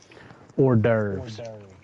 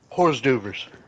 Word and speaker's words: hors d'oeuvres: Hors d'oeuvres. Horse doovers.